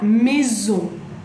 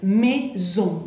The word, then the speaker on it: maison: Y puse la listita de palabras, puse la maison, la maison, la casa, la me. Ahí tenemos, ahí, entonces, maison.